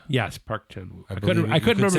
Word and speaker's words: Park Chan-wook: I mean, I say Park Chan-wook is the standard pronunciation.